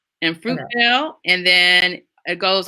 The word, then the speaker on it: Fruitvale: In Fruitvale, if I'm pronouncing that correctly. Yes, it is. In Fruitvale.